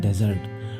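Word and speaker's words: desert: तो वो होता है रेगिस्तान उसको बोलते हैं डेजर्ट और डीजर्ट जब डी लगता है तो वो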